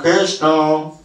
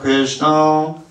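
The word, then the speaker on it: कृष्ण: Ятра Йогешвара Кришна. Here's how you did it. А теперь как вы делали? Ятра Йогешвара Кришна. Ударение на Кришна.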